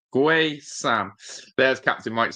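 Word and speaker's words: Guessand: Guay Sam. Guay Sam. There's Captain Mike saying the legend. Legend. Legend. Legend. Cuz that's what captain is. Um, but yeah, don't pronounce the U or the D.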